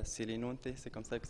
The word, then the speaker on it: Selinunte: d'autres pays d'autres villages je suis aujourd'hui à céline honte et c'est comme ça que ça fera se prononce donc j'ai fait un tour en sicile